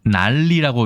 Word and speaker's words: 난리: 난리라고 읽어야 되죠.